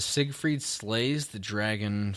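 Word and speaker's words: Seigfried: very happy man um how do you say this next track is it Sig freed yeah okay for the longest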